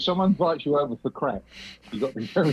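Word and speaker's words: craic: I go over for the crack as it's spelled in Irish.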